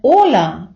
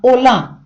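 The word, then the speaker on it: hola: неправильний наголос чомусь іноземці чують не ола а Ола з наголосом на а можливо це пов'язано з тим що А - це відкрита голосна наприкінці слова можливо від регіональної мелодики вимови іспанцем або від його настрою але правильний наголос на о ола ола йдемо далі адіош До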